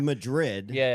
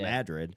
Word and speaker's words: Madrid: getting ready to save I've been calling it Madrid from minute I saw it and then I've been told like 12 times it's Madrid yeah um to me